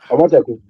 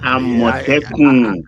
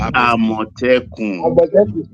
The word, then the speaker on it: Amotekun: Omoteku. Huh? Who is saying Omoteku? Amotekun. Isaac Ojo is pronounced Amotekun.